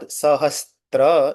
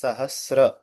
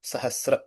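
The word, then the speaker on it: सहस्र: So the correct pronunciation of it's not Sahastra, it is Sahasra. Danti Sakar with a Rikar below. Sahasra.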